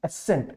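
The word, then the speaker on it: ascent: असेंट, असेंट जो word है, और एसेंट, देखो प्रोनाउंसिएशन ऑलमोस्ट सेम है। असेंट और एसेंट दोनों प्रोनाउंसिएशन सेम है, पर इस ASSENT का मतलब होता है स्वीकृति, राइट।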